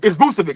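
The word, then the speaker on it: Vučević: This Boston Celtics acquired Nikola Vucevic, and I can't never pronounce his name. Obviously, the Celtics needed some help. No, it's Vucevic.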